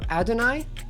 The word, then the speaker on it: Adonai: Most common accepted pronunciation puts the stress on the first syllable, so Adonai?